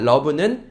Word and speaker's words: love: 이게 다만 읽을 때 조금 불규칙이죠. love라고 돼야 돼요. O 장모음이니까요. 그죠? 근데 그렇게 안 읽히고 love라고 읽힙니다. love는 사랑하다라고 하는 동사로도 쓰이고요.